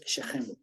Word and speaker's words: Shechem: Con S-I-Q-E-M en español. En hebreo es Shechem.